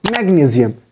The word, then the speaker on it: magnesium: You don't have to pronounce, you don't have to make the sound of SI like sh, sh. Here you have to pronounce it magnesium. Magnesium. Change the sound of S with Z. Z.